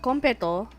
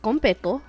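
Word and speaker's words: konpeitō: Okay, so competo. It's actually spelled like this. Compeito. So it is competo, and it's like little star candy.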